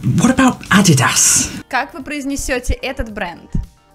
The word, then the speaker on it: Adidas: Этот бренд по-английски произносится правильно Adidas. Adidas. Very own Adidas tracksuit. Название этой компании пошло от имени и фамилии ее основателя. Adolf Dassler, Eddie Dassler, Eddie Dass, Adidas. Adidas. It's Adidas.